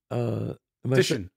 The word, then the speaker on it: Titian: Was it Titian? Titian.